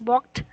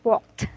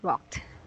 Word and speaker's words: walked: English and British Standard it is pronounced as walked with the T sound at the last or at the ending sound walked okay so here okay